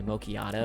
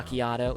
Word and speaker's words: macchiato: I go get my macchiato. I want Starbucks. now. Macchiato. It's macchiato. Sorry, I said it wrong.